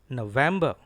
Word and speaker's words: November: Here are two stressed syllables. N and wam. It is November. Once again, say it with me. November. November. Stress is on N and then VEM.